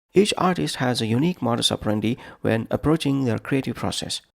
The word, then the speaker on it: modus operandi: Today's word, modus operandi. Modus, 2 syllables. Operandi, 4 syllables.